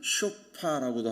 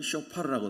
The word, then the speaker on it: 쇼파르: 하는가 나팔을 불었잖아요 나팔을 나팔을 쇼파라고도 하고 알 발음을 넣으면 쇼파르라고 하거든요이 나팔을 불었어요 근데 이스라엘